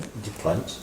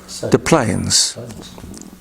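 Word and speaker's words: Des Plaines: How do you say that? The planes. Dplanes. Uhhuh. I know there's De Moines. Yeah. The Plains. The Plains. Okay, it's like the plane, the plane, the plane.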